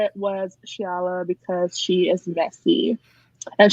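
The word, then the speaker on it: Xiala: can't remember, is it Zyla? Is that how you say it? I think I looked up how to pronounce her name and it says like Shiala.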